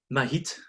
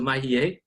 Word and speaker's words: Mahiet: So what we did is we decided to look at one particular important decorator, Mahiet. So Mahiet, you want to say if you pronounce it as it's spelled. So Mahiet, he's an illuminator at